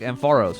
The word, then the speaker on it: Ampharos: think it's pronounced qua so I think ampharos because like am for real electricity type stuff there's still one more missing maybe it's like em Faro's for some people I don't know as